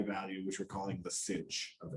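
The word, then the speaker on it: sinh: And as I mentioned, it's pronounced cinch or hyperbolic sine.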